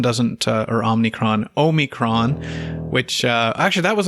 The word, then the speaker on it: omicron: uh all the best everybody and i hope omnicron doesn't uh or omnicron omicron which uh actually that was another topic i